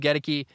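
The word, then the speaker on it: Goedeke: They've got a rookie left guard, Luke, I always get this, Gedeke. Luke Gedeke. It's spelled Godeke.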